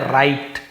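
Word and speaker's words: write: जैसे कि राइट नहीं पढ़ेंगे, हम इसे पढ़ेंगे राइट, राइट लिखना, रॉन्ग हम इसे क्या पढ़ते हैं, ऐसे रॉन्ग, रॉन्ग यानी होता है गलत।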